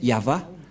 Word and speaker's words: Yahvah: C'est l'alphabet hébreu qui est prononcé Yahva.